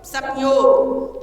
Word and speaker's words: संयोग: लेकिन हम पूरा म का उच्चारण नहीं करते ना, संयोग, क्योंकि वो तो नासिका से हवा वायु जो है निकल रही है ना, क्योंकि पंचम वर्ण कहाँ से उच्चरित होते हैं? वो होते नासिका से।